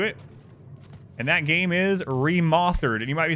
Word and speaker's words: Remothered: And that game is Remoththered. And you might be saying, Adam, why do you pronounce it Remoththered? Isn't it Remothered? No, it's Remoththered.